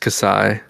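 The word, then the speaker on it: Xi: kasai it's the great that's how the greek letter is pronounced just kasai not she whatever i only know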